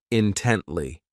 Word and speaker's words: intently: This adverb has three syllables and the stress is on that second syllable, intently.